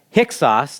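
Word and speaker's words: Hyksos: amazing how god's timing works out when the hicks sauce now that's not how it looks like when you spell it but that's how you pronounce it kind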